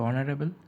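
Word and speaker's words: honourable: তো অনারেবল এটার প্রনাউন্সিয়েশনটা কিন্তু অ আসছে। ঠিক আছে, হ না, তো অ জন্য এটা হবে এন। ঠিক আছে, তারপর হলো হি ইজ ড্যাশ ইউরোপিয়ান।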